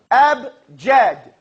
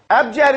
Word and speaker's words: abjad: no Gene everybody say abjad how wise man fast Curry shot say abjad AB Jed abjad is the first get